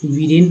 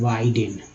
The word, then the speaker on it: Biden: तो बीडेन पढ़ते हैं। बीडेन मान लीजिए मैंने पढ़ा बीडेन, लेकिन एक्चुअल उच्चारण है वाइडेन, वाइडेन। बी आई का उच्चारण बाई के रूप में हुआ, ये वाला।